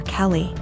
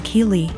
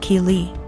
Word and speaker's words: Keely: A couple times more and I realized she was calling my daughter Kelly. My daughter's name is Keely, pronounced Keely.